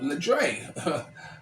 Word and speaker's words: Dre: problem pronouncing my name it is Dez Going Global and my name is uh uh oh Dre like the Rapper Dr Dre oh Dre so so